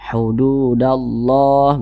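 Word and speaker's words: حدود الله: adalah alif lam syamsiah maka huruf lamnya ini dia tidak dibaca makanya di sini kan tidak ada tanda bacanya jadi dia dibaca idgham langsung masuk ke huruf yang di depannya ini ya sehingga dibaca hududallah begitu kemudian lafaz Allah dibaca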